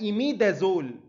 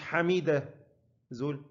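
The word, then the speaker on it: imidazole: وأنا دايماً لما باجي أشرح الحتة دي بحب أهزر مع الطلبة، بقول تقولها إيميدازول مش حميدة زول، إيميدا مش حميدة، خلاص؟ عشان تفتكرها يعني.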